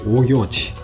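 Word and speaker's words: オーギョーチ: 藍玉と書いてオーギョーチ、レモン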